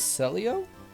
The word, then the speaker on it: Celio: Also, apparently you pronounce his name as Celio? I always thought it was Clelio.